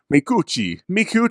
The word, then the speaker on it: Micucci: M-I-H space K-O-O, capitalized space C-H-E-E. Micucci. Mikuchi. Oh, I get what you're saying.